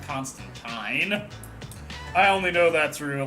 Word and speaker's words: Constantine: He's called Constantine. The actual comic book character, though, is pronounced Constantine.